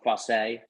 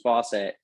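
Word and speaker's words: Faucette: France perhaps you know fasay um I I defer to the French speakers there but in the British Caribbean it was it was uh almost certainly pronounced Fawcett so that would have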